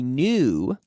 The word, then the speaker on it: knew: I know yesterday I knew new K&E W but it it's pronounced like new as in nuevo new new new lately I have known